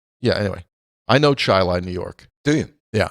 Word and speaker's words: Chili: Anyway, I know Chilai, New York. Do you? Yeah, I know Chilai. Spelled like chili. It's spelled like chili. It's pronounced Chilai. Chilai.